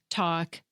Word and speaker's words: talk: Listen to me say these words: walk, talk, and half. Did you notice that even though all these words have an L in their spelling, I didn't pronounce them?